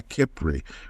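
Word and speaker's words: Khepri: Kepler. I hope that I'm pronouncing it right. K H E P R I Kipri which is the manifestation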